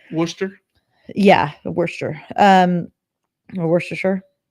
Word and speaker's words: Worcester: sister's house yeah yeah or any other British town like Lester or things that are just not pronounced the way that they're written Worcester yeah we're sure um